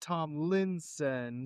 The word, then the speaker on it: Tomlinson: It's actually pronounced Tomlinson. Tomlinson. Yes. So it's like Linson, not Linson. Or Tom Olsen. And it's L-I, not I-L.